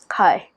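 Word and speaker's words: はい: sure for example yes hi hi like flying high uh hi same same pronunciation almost hike height get you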